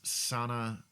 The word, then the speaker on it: Sana: Aaron introduces Sana, I think it's pronounced Sana, Sana, Solo, who is a woman